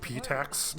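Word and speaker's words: Pitax: It's pronounced Patax, my lady.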